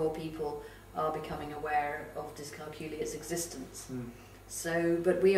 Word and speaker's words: dyscalculia: I always just say it rhymes with peculiar, but right.